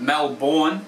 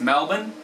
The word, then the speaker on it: Melbourne: few I'd like to clear up that people pronounce wrong all the time including Australians themselves it's not Mackay it's McCoy it's not Mel born its Melbourne it's not Albury it's all Barry it's not